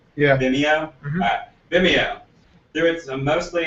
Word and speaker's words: Vimeo: Vimeo. Yeah. Vimeo.